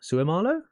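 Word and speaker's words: Seumalo: about Isaacson oh this this guy I've already butchered that name Isaac sumalo Sue Marlow yes for um who was at the Eagles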